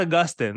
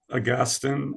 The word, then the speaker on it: Augustine: editors of the book but this is about Augustine this is the age-old debates I wanna um